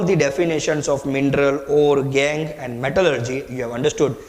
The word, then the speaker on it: gangue: Please do not pronounce as gangue. It's gangue.